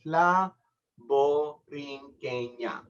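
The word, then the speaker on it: La Borinqueña: How do you pronounce that? Chill. I'll explain it to you. La Boriqueña.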